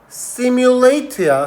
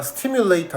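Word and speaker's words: simulator: 그리고 그 러닝 머신이 뭐냐면 걷기를 시뮬레이터야. 스뮬레이터 아니고 시뮬레이터야 모방하는 걷기를 모방하는 그러한 러닝 머신이 있다라는 겁니다.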